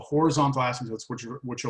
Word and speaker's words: asymptote: to say it horizontal asymptote asym the p asylum asymptote it's a weird word horizontal asymptote and the